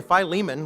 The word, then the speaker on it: Philemon: In fact, even pronouncing it, for the longest time I said Philemon. In fact, Leona Dorothy's here when I was in St. Louis, and you might ask her. I might have said that the first few years I was there.